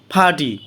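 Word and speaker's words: party: ফাটি, ফাটি অর্থ দল, ফাটি অর্থ দল, মাঝখানে আরের উচ্চারণ হবে না।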